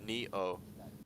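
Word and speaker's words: Nioh: if you ever play Nihao or Neo. I forget how it's pronounced. 1 second. Neo pronunciation. Let's see. It's yeah, Neo.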